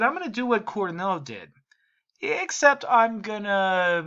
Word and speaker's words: Cournot: All of this was done first by Antoine Augustin Cournot, if I'm pronouncing the French correctly. Some economics instructors may just say Cournot or Cournot, Cournot.